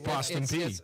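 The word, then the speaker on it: Austin Peay: ask you how to say it's p it's Austin P yeah yeah they've got a nice little arena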